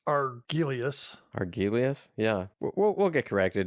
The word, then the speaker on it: Argelius: It's Argelius. Argelius? Yeah. We'll get corrected no matter how you pronounce it, Dana.